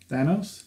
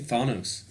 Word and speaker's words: Thanos: in the whole time how do you say danos Thanos he kept saying fanos like I don't know